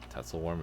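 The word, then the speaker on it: Tatzelwurm: It was a tatel worm. Telworm is how you say it.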